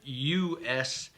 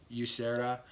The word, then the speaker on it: Usera: it or say it it's a spanish name there's a dick district in madrid spain with the name yusera okay and so again